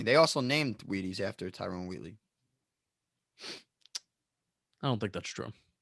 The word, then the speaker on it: Tyrone Wheatley: saying his name wrong no tyrone wheatley that's his name timeroon timer wheatley try it again tyrone wheatley there you go wheaties i have a